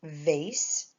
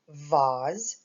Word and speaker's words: vase: at this line for vase or we could also pronounce it Vaz some people say vase and some people say Vaz either way is proper it's it's correct either way and our last picture